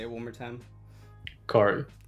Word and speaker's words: Khary: Khary. Khary. Yeah, perfect. Okay. Because you know how I've been saying it Khary, and it's been fucking me up.